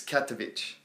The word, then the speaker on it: Katowice: So that shows you how good I am at my foreign pronunciation, but it's Katowice.